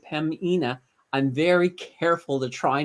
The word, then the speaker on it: Pembina: So Pemina Pipelines, I was calling them Pembina, but apparently the B is silent.